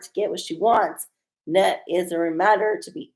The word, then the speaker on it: Nut: got a nut yes it's pronounced nut okay so maybe when